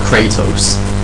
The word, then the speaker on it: Kratos: But so yeah, and Kratos is badass, and it's not, it's annoyed me that they pronounce it Kratos. It's pronounced Kratos, you morons.